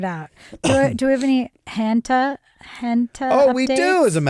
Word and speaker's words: junta: So now he's talking hanta. Not junta, not like military junta, not junta, not hanta, but hanta.